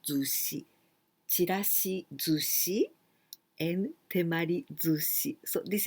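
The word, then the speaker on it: 寿司: Well, this is the kanji of sushi that you say Japanese sushi, right? This is sushi. And here we pronounce zushi.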